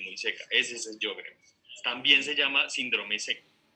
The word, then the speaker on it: Sjögren: Profe, es que cuando tú hablabas de un síndrome de, no sé cómo se pronuncia, Sjögren. Es Sjögren. Exacto.